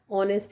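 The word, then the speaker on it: honest: लेकिन ऑनेस्ट जो वर्ड है वो एच से शुरू हो रहा है, लेकिन उसके पहले भी हम एन लगाते हैं क्योंकि उसका उच्चारण जो है वो ऑनेस्ट है, यानी ओ जैसा ही है।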